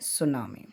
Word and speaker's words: tsunami: ये भी शुरू हमारा होता है T से, TSUNAMI, ये है सुनामी।